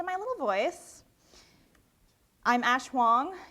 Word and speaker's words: Huang: voice I'm Ash hang if you want to know about the name hang hang rhymes with wrong it rhymes with song and let's see if I can get this to play rhymes with this song that is what my name rhymes with and uh it's worth